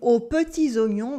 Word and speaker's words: aux petits oignons: Here in aux petits oignons, we have a nasal on, aux petits oignons. We have a silent S at the end of oignon, and we have another one at the end of petit. But because of la liaison, we hear it.